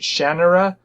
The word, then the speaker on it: Shannara: I always pronounced it Shannara, but I got a book on tape of it, and they pronounced it Shannara, which makes it sound like there's an E in it, but there isn't.